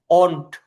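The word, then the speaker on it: won't: তো এখানে আজাদ হোসেন ভাই এখানে উচ্চারণটা এরকম, একটু প্রনাউন্সিয়েশনটা একটু খেয়াল করেন। অন্ট, অন্ট মানে উইল এবং নট। হ্যাঁ, উইল এবং নট এর সংক্ষিপ্ত রূপ হচ্ছে আপনার অন্ট, অন্ট, উইল অন্ট।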